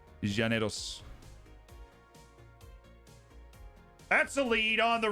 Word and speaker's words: Llaneros: one go reddish we've gone over the pronunciation uh with some people from Colombia and they said it was Janos Janos that's a lead on